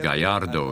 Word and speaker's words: Gallardo: It's a Spanish name, a type of bull. It's pronounced Gallardo. You don't say the two L's.